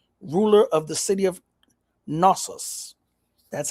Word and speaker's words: Knossos: Greek mythology tells the story of Minos, ruler of the city of Knossos. That's how I'm pronouncing it.